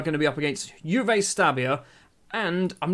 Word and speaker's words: Juve Stabia: So the starting lineup then for the Juve Stabia game. Is that how it's said? Is it Juve or Juve? It's going to be Juve, isn't it? Because it's Juventus. It's Juve Stabia.